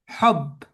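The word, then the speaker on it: حب: Heb dis hab encore nab dis hob. Comment ? Hob. Hob. Voilà. Encore hob.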